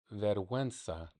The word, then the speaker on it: vergüenza: Um, vergüenza, vergüenza. So penguin, right? You see the guin in pronunciation of penguino. Vergüenza. Oh, Sometimes the V's in Spanish are B's.